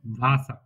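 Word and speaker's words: Wasser: ফাটা ঠিক আছে আচ্ছা ডাব্লিউ এর উচ্চারণ কি মতো ভয় এর মত যেমন ভাসা ভাসা মানে পানি আমরা পরে দেখি কমান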